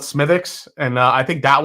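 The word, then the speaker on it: Smithwick's: too it it's uh it's spelled Smithwick but everyone just called it smithx and uh I think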